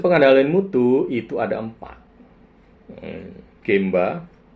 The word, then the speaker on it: genba: mutu itu ada empat gemba g m ba atau ada tulisnya G NBA juga Yang benar genba sih emang cuman pelafalan ya jadi gemba gitu Kanai gampang yang kedua